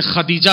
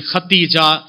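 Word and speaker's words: خديجة: Pronunciation है बिलकिस है, तो जैसे खदीजा को लोगों ने बिगाड़ दिया, कोई खुदैजा कोई खुतैजा कोई खदीजा, सही है खदीजा।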